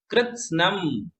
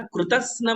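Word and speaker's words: कृत्स्नम्: निर्धूमवर्ती रपवर्जित तैलपूरः कृत्स्नम, है ना, कृतस्नम नहीं है। कई लोग कृतस्नम पढ़ते हैं, कृतस्नम नहीं, तो आधा है तो हम पढ़ेंगे कृत्स्नम जगत त्रयमिदम प्रकटीकरोषि गम्यो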